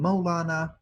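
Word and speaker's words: مولانا: The Persians call him Maulana, the Turks pronounce it as Mevlana, same word.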